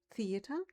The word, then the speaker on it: Theater: We have TH at the beginning of a word, like theater, but we pronounce it differently. We write it exactly the same. Theater is the same in German as in English, but pronounced, the TH is Theater.